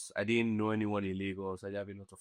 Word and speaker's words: Laguru: What is Lagoru? Laguru is a place in my village. It's actually pronounced lago but like for a